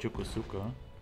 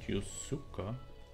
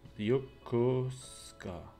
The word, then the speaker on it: Yokosuka: Oh, it's, I learned that it's not called Yokosuka. It's called Yosuka. No, oh, Yokosuka. The U is silent.